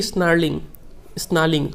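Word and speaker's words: snarling: He should be स्नार्लिंग, आर यहाँ पे silent होता है।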